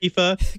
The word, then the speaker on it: IFA: what Aoife is and whether or not you should ever pronounce at IFA I don't know if you should pronounce it I say I've only heard Eva there is a long